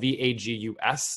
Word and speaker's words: vagus: If you're on this call and you don't really know that, it's spelled Vagus, not like Las Vegas, but vagus in Latin, which means wanderer.